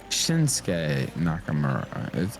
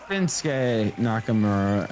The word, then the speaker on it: Shinsuke Nakamura: this is going to sound mean but it's shinsuke Nakamura it's not Shins It's Shin Shin not Shin you don't pronounce it right that way okay no it's shinsuke Nakamura and it's ASA ASA not Asuka ASA you